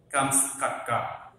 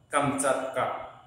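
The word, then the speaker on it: কামচাটকা: আচ্ছা, আরেকটা শব্দ এখানে দেখতেছি, কামস কাক্কা, প্রকৃত উচ্চারণ কামচাক্কা, রাশিয়ার অন্তর্গত সাইবেরিয়ার উত্তর পূর্বে ভৌগোলিক একটা অবস্থানের কথা এখানে চলে আসছে, অবস্থিত একটি উপদ্বীপ।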